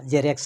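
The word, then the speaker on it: Xerox: এবং এটা মনে রাখতে হবে যে ওয়ার্ডের প্রথমে যদি এক্স আসে, তাহলে কিন্তু এটাই উচ্চারণ হয় জর মতো। যেমন জেনন, কোনো একটা কেমিক্যাল পদার্থ। আর তারপরে আরেকটা দেখে নিতে পারেন আপনারা, জেরেক্স, আমরা সবাই জানি জেরক্স, উচ্চারণ এইভাবে করে জেরক্স।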